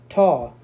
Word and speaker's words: tau: Tau, we pronounce this one as a tau, T-A-U, tau.